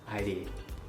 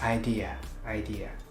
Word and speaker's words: idea: When you hear people pronouncing idea like ID. It's no ID, it's idea, not ID.